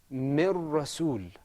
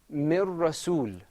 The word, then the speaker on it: من رسول: This is pronounced with idgham. Mir rasul. Say it with me. Mir rasul.